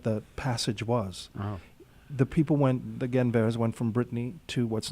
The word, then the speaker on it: Guenveur: Yes, Roger Guenveur. Guenveur. I've been saying his name wrong.